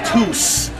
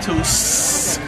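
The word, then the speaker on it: tús: This is the word beginning, tus. It's a long U because of the fada, tus. Long S because it's next to a U.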